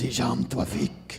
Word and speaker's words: Hisham Tawfiq: Hisham Tafweek. That's Yeah. because he actually did a liner for us, and that's how I know how to say it. That's true. This is Hisham Tawfiq.